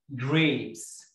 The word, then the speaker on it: grapes: عنب يعني grapes، ناس كتير جدا بتقول عليها grapes، غلط جدا جدا جدا، اسمها gray gray لونج اي اي كونسونانت اي بنطق الاي باسمها grapes، خد بالك الجي مع الار، حرف الار ده مهم جدا جدا جدا. grapes ما تقولش grapes، grapes grapes.